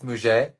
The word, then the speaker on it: muguet: How do you pronounce that? That one I I've think never even seen. it's Muget.